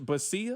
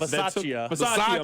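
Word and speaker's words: Bisaccia: They had Rich Basia. I think that's how you pronounce his last name. The special teams coach, yes. Basaccia.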